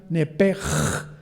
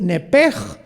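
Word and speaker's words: נפש: hebreo es la palabra nepesh. La CH en el hebreo se pronuncia como J, entonces se pronuncia nepej, como si fuera J. Es nepej, es el alma en el hebreo.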